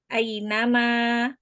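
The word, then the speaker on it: أَيْنَمَا: Cara membacanya huruf lin ya. I. Heeh. Jadi tidak berlama-lama ai gitu ya. Khawatirnya masih ada yang membaca dengan a nama ai tidak ya. Dia membacanya harus dengan cepat ya.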